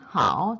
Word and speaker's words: 好: I hope 삼성인 how 좋다란 뜻이 아니라 쉬미라고 할 때만 하 사성으로 되는 점 숙지해 주시고요.